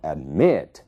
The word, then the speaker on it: admit: Então, admit, é ali que está a sílaba tônica.